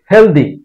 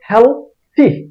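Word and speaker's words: healthy: উচ্চারণ হবে guardian guardian এটাকে আমরা উচ্চারণ করি হেলদি হেলদি city হেলদি society হেলদি দিনা এটার উচ্চারণ হবে হেলথি টি এইচ এর উচ্চারণ থ জিহ্বাকে দাঁত দিয়ে ছাপ দিয়ে তারপর ছাড়তে হবে আওয়াজ থ টি এইচ ওয়াই এর উচ্চারণ হবে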